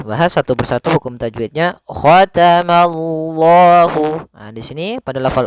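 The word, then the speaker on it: ختم الله: Ma-nya tipis, Allah-nya tebal.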